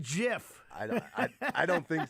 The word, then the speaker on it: GIF: be pronounced it's a JF just like the Giants play in football and giraffes have long necks G stands for graphic